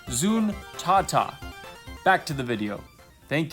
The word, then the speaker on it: Zuntata: It turns out Taito's in-house band is not Zuntata, but Zuntata. And for whatever reason, I have failed to pronounce it properly for like my whole life. So I apologize, and here's the correct word, Zuntata.